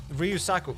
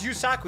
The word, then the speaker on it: Yusaku: Hey, so your name is Yusaku. You just don't have to pronounce the R.